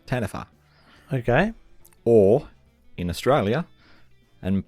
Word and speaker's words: Taniwha: it in here this is an episode called tanfer but it's actually spelled t a n i wh a but it's pronounced tanfer okay or in Australia and possibly other places